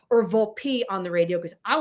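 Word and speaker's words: Volpe: Vulp. That's how you pronounce it. Okay. I asked Anthony, "Do you want it to be Vulp or Vulpi on the radio because I want to make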